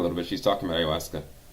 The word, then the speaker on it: ayahuasca: That goes for a ayahuasca ceremony. Oh, let's go back a little bit. She's talking about ayahuasca. She doesn't even pronounce it correctly. Ayahuasca. It's not saying ayahuasca. Ayahuasca, lady.